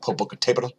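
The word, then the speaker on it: Popocatépetl: 7,000 foot plume there Popocatepetl which by the way I'm pretty sure it's pronounced Popocatepetl you can see that accent on the letter e there meaning that accent should be on that letter so it should be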